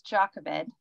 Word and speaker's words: Jochebed: Also, it's Jochebed. That's how you say it.